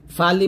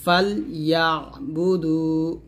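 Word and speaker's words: فَلْيَعْبُدُوا: ফাল ইয়া বুদু, ফালি বলবেন না, ফাল বলবেন। ফাল ইয়া বুদু।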